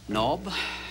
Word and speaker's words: knob: Knob? Knob. No, the K is silent, it's just knob.